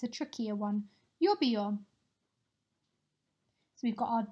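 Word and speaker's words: lluvia: need to remember that we've got our Double L at the beginning making our u sound and then the V which we pronounce as a B good work let's move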